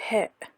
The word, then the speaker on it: هاء: Thus we have the letter Ha, which is like the letter H in the word he in English. It is pronounced H.